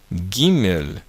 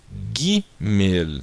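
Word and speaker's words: גימל: Aqui é a letra Gimel, tá? Letra Gimel, tá? A letra Gimel tem o som do G, como na palavra gato. Agora, a letra Gimel, ela sempre vai ter esse som de Gá, Gé, Gui, Gó, Gu.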